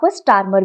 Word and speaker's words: Starmer: Okay, Keir Starmer, इसकी pronunciation हो सकती है कुछ आप अलग करो, बट इसको आप स्टार्मर भी बोल सकते हो।